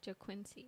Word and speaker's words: JaQuincy: How do you pronounce JaQuincy, so it's JAQ. Quincy. Oh, like Quincy. like Quincy? Yeah, so but with a JA. Like- JaQuincy. JaQuincy.